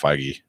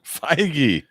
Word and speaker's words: Feige: No, Spider-Man is the end of Phase 3, according to Feige.